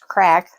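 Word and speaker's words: craic: going or what's up oh Craig pronounced crack I was wrong refers to having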